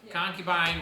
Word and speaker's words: concubine: something under a wife concubine rhymes with porcupine they're not similar though um